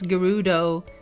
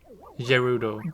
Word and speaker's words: Gerudo: have a face uh I always pronounce Gerudo with a soft G until breath of the wild came out still do it sometimes wait like Gerudo Gerudo that does sound